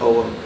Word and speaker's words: ogham: people call it the ogham that's og ham but it's properly pronounced om and but it was